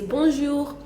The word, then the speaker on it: bonjour: So do we pronounce the N? Because now it's double N there. And we do one N as we have in bonjour and bonsoir. So how do we pronounce it now? Okay, for B-O-N, when it's bonjour, for the B-O-N, we do not pronounce the N, really. We just nasalize and say bon, and so we say bonjour.